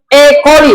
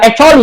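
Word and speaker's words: E. coli: Nah, yang kedua ada yang ekoli bukan ecooi. Bukan bacanya ekoli ya.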